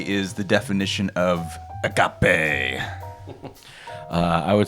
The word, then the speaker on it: agape: The theme is agape. And when you have to say it like that, agape.